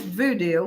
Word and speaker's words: Vodou: According to the voodoo tradition, also known as voodoo, which is spelled different, VODOU, there's one supreme god who is known by different names in different parts of the world.